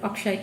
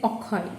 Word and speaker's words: Akshay: It's the name of the famous Bollywood actor Akshay Kumar. So when we talk about him in the Bangla newspaper, we will always say Okhoi instead of Akshay, because this is how we will pronounce it in Bangla.